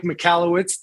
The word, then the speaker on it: Michalowicz: long time i am humbled uh that mike michalowicz did i say it right you nailed it